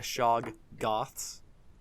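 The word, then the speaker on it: shoggoths: I mean, I It's spelled shaggots, so it's more of like sha uh shog goths.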